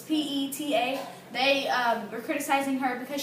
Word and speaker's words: PETA: It's PETA.